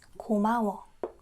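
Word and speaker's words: 고마워: So, how do you say gomawa? Go. Not co, co. Ma. Goma. Wa. Is it right to spell it like this? Gomawa. Gomawa. Yeah, it's gomawa. Gomawa, it's like thanks.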